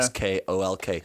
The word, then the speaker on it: Schalk: They pronounce it Yeah. SKOLK.